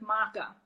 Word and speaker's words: maca: I cut out the coffee and I replace it with maca.